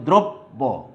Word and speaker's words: দ্রব্য: তাইলে দ্রব্য এর উচ্চারণ কি হবে? তাইলে তুমি দেখো দ্রব্য, এই যে দ্বিত্ব উচ্চারণ হচ্ছে পরেরটায়, বাট নিয়ম অনুসারে আমার দয় কিন্তু কোনো দুইবার উচ্চারণ হয়নি।